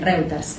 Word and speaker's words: Reuters: Sí, está bien, pero lo pronunciaste bien, Reuters.